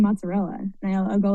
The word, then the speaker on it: mozzarella: Mozzarella is mozzarell.